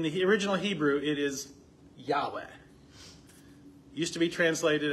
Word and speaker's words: Yahweh: But if you use the letters Yahweh, but the Yah they used to think was a J, and the W they used to think was a V, and that's how they got Jehovah instead of Yahweh.